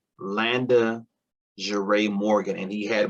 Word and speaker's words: Landa: too girly and feminine nobody could pronounce landa i would get called london laundry london linda landis i mean you name everything but landa i would get called